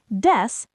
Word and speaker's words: です: Des, de like desk, su is very soft, almost like des.